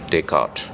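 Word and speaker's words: Descartes: हूं Renee day काट उनका उच्चारण है या स्पेलिंग तो आर एन तो Renee D एस सी ए आर टी एस तो ई एस मेरे ख्याल से उसका उच्चारण नहीं होता है तो हो गया रेने टे काट तो कई साल पहले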